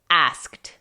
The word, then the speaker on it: asked: La pronunciación de la palabra sola es asked. Si se dan cuenta, la ed suena casi como una T ligerita en inglés.